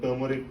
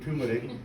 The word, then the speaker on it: turmeric: And while touring the US, we realized that turmeric has become, and I've changed my pronunciation from turmeric to turmeric because that's how it's pronounced in the US.